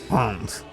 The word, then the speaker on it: Rennes: Rennes. Hans. Not German, it's French.